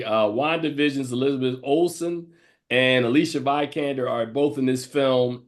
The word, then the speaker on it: Vikander: but my number six was Alicia Vikander, or Vikan. I keep calling her You Vikander. said it right, Vikander.